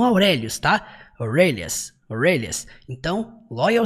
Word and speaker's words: Aurelius: Aurelias, não, Aurélios, tá?